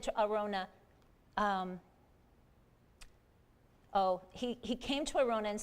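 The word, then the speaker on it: Araunah: Arona.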